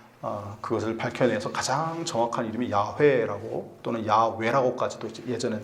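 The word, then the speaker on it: 야훼: 연구하고 한 결과 그것을 밝혀내서 가장 정확한 이름이 야회라고 또는 야외라고까지도 이제 예전에 또 얘기했는데 요즘은 히웃음으로 야회라고 하나님의 이름을 발음을 합니다. 근데 그 야회라고 하는 단어 자음에 아도나이의 모음을 붙이면 그게 여호와가 돼요.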